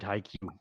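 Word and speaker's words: HiQ: are you I guess he hears it high Q so it's high like high and Q like the letter Q oh now back to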